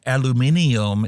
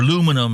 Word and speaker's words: aluminium: be made out of aluminium as you guys pronounce it or aluminum is we pronounce it Forest why you riding